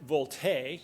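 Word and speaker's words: VoLTE: may have heard of vol te it's voice over LTE it's actually pronounced volt a kind of French like but then that's that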